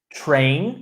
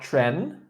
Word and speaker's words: train: Train, not tren.